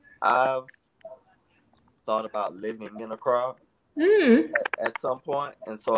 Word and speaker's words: Accra: That's how you pronounce it, Accra. Yeah, yeah. Okay. That's how I've pronounced it, and that's how it was confirmed.